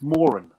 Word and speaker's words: Moran: They say Moran. No, it's not Moran. It's Moran. That's how you pronounce it.